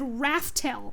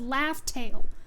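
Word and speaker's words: Laugh Tale: they did drop it, they actually said raftel. They said rafttail because they didn't know it was called laugh tail. They didn't know the official pronunciation for it yet.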